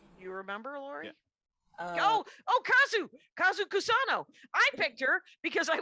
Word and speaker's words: Kazu Kusano: Spell it, Kyle. Oh yeah, it's Kazu Kusano.